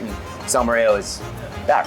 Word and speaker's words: salmorejo: So salmorejo, did I say it correctly? Salmorejo, yes.